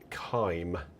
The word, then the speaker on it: Kime: Okay, so let's go into our next hymn now, which comes in from Jim Kime. And I always remember Jim saying to rhyme with time.